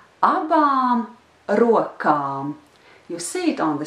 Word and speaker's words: rokām: But anyway, the last two words together are abām rokām, abām rokām.